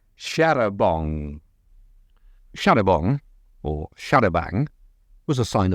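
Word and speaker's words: charabanc: Since it had been borrowed from the French nearly 100 years earlier, the committee decided that an English pronunciation was in order, thus Sharabang, and not Sharabong. It wasn't long before the committee, which became a much bigger and grander affair, decreed that after all it should be pronounced as in French, back to Sharabong, only to change its mind yet again and revert to Sharabang.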